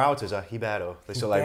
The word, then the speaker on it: Ribeiro: No, Riberio's fine, honestly. I've had Riberio, I've had Ribeiro, I've had all sorts, but Ribeiro, yeah. In Portuguese, I think they like take the R out as a Ribeiro.